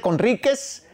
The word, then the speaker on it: Conríquez: Conríquez. Sí, no me equivoco, así es como se pronuncia, así es como se dice.